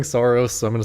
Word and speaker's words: Saros: Saras that is not like but apparently it's like a you know it's a term in astronomy. Saras Saras I will not be pronouncing it this way. I don't I don't think um like rhymes with hair loss.